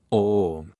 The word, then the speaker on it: Om: Esa sílaba se vocaliza así, Om. Como veis, la O es la letra principal del centro del corazón.